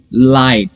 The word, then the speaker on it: light: और T, सो letters 5 है लेकिन साउंड सिर्फ 3, लाइट. सो इसे अच्छे से साउंड वाइज प्रोनाउंस करना है. इसमें G और H का जो साउंड है वो प्रोनाउंस नहीं करना है.